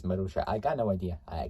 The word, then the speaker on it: Marussia: Pronounced Marussia.